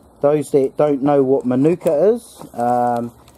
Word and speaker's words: manuka: Those that don't know what manuka is, it's spelt M-A-N-U-K-A, manuka, Mike, Alpha, November, Uniform, Kilo, Alpha, manuka.